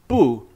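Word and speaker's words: 不: here with my pronunciation I'm pronouncing the character bu here in the second tone why is that that's because it's followed by a fourth tone so when that happens The Bu changes to Second tone we'll talk more about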